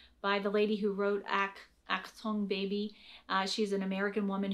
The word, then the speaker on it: Achtung: the playgrounds, and many of you mentioned the Achtung, is that how you pronounce it? Achtung. Achtung.